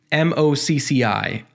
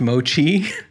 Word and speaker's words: MOCCI: As you can see right here, the Divi network is powered by MOCCI. I think it's pronounced Mochi. I'm hoping that's the way it's pronounced.